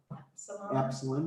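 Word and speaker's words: ε: Epsilon, which is as in bet or met.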